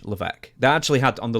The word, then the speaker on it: Levesque: Now his last name is spelled Laves Q-U-E. Is that it? Yeah. And it's Levesque.